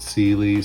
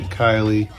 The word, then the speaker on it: Cylee: y l e e i pronounce it Sealy some people say Kylie um Red Dot uh